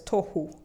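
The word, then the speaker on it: תֹּהוּ: This one is called tohu. They pronounce it as tohu.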